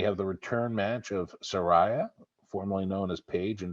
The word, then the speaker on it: Saraya: debut match at aew Soraya by the way Soraya Saraya whatever I mean she actually called Saraya so it's called by a name right are you sure